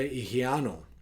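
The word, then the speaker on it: ὑγιαίνω: Y se pronuncia higiano, algo parecido como eso.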